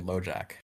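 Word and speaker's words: Loubejac: Okay. Not lojack. It's like It's like L O U B E J A C Ljack. It's French. Lojac.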